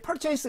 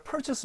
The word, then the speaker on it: purchase: 발음 은 "purchas" 가 아니라 "purchase" 입니다 .